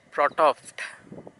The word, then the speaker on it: Frotoft: I need to get my pronunciation absolutely spot on. It's Frotoft.